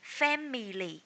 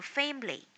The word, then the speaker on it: family: If you are saying family, so change it into family, right?